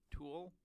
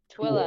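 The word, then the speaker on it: Tooele: Tool? How do you pronounce this? Twilla.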